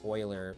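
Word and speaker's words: Euler: I was just telling Riru here about their possible aims is actually pronounced Oiler, by the way. It's freaky German pronunciation.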